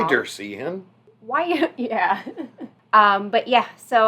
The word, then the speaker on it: Wiedersehen: Yeah, we didn't pronounce that correctly at all the first time we said that, by the way. We said it very bad. I think I pronounced it Wiedersehen. I think that's how I pronounced it. But yeah, that's obviously very wrong.